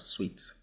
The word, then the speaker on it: Suiet: Network which is known as sweet wallet it's pronounced as sweet wallet so yeah as you can see on